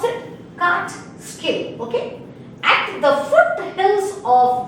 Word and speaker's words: Catskill: How to pronounce it? Catskill.